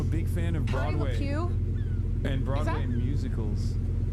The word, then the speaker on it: LuPone: Why are people mad at Patti LuPone.